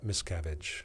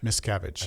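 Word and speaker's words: Miscavige: the void is David how would you pronounce this m misavage m miscavage Miss cavage I think that's how they say it m i s c a v I miss cavage miss cavage born in 1960 still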